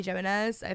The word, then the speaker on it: Jimenez: like giving similar authors oh I love Abby Jimenez that's how you say her name every book